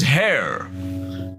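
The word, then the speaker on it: Haigha: does them when he's happy his name is hair he pronounced it so as to rhyme with M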